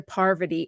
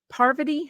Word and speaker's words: Parvati: Parvati? I'm going to say that name wrong. It's going to sound like I'm saying poverty, and I'm not. Parvati.